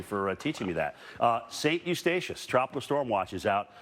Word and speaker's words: Eustatius: Eustatius. Eustatius. Is that what that is? Thank you for teaching me that. St. Eustatius, tropical storm watch is out for this area and through here.